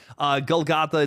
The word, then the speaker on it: GullGotha: But GullGotha, it's a YouTube channel spelled like a seagull, like Gull, and then goth, like the people who wear black clothing. And then an A.